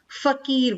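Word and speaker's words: फ़कीर: ठीक है, ओम, फकीर, फकीर नहीं फकीर बोलेंगे इसको।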